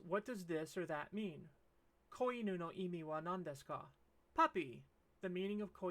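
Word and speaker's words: み: off in the comments and this character is me it looks a lot like new remember new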